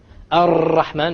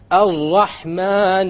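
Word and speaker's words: الرحمن: You cannot allow the tongue to roll. Ar-Rahman is a mistake. Ar-Rahman Ar-Rahim. No rolling. So it is very important when we pronounce the R, the ra in Arabic, we don't say ra, because it is a mistake. Rather, we say ra. One precise ra.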